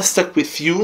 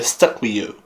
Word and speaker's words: Stuck with U: Não é Stuck With You, não é Stuck With You, é Stuck With You, ok? Comemos algumas letras aí pra pronunciar igual a eles.